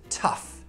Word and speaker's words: tough: Now this spells tough. T-uff. So in this case, we pronounce it uff.